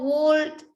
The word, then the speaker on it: would: Like a Should, long could, would. would. Como Would. madera. Would. And you Should. never pronounce the letter L.